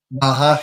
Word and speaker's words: MAHA: You can kind of take it wherever you'd like, but yeah, general thoughts on is it MAHA? Is that how you say it? How do you say it? MAHA, yeah.